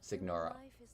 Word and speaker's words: Signora: way you're singing uh the g is silent and GN is pronounced ni col wait GN signora sigora oh that's what you